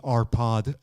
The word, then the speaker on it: Arpad: probably the easiest it's my name it's an hour pod so Kyle there aren't that many in the wave we should spell that it's an AARP so it's Alfa